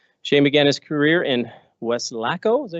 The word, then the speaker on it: Weslaco: Shane began his career in Weslaco, is that how you say it? Weslaco, there you go, Texas, where he was a